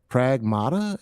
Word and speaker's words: Pragmata: It's uh Pragmata. Am I pronouncing that right?